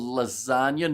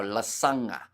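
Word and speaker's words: Lasaqa: lasagna not quite no Las is the the pronunciation so it's pretty much l a a QA but because of where the man is from it means that the Q is pronounced NG but it is kind of close to lasagna of course actually I'm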